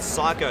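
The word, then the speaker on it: Syco: it's by a company called psycho that's spelled Sy YCO um that of course this is actually under the license of Ubisoft but psycho actually make a variety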